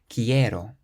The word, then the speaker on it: quiero: There are 3 syllables and we stress the one before last, which is the e. Quiero.